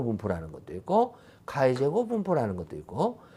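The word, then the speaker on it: χ: 그래서 얘는 X라고 읽지를 아니하고요. 그리스 문자로 이 X를 카이라고 읽어요.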